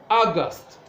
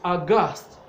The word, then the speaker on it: August: distresses on the first syllable and so we pronounce it as August but when it's used as an adjective it is August such as when we are talking of an